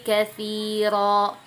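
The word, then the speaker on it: كَثِيرًا: Kemudian contoh kedua, yudhillu bihi katsira. Katsira, dan jangan terlalu panjang. Dia jatahnya adalah panjang 2 harokat gitu ya.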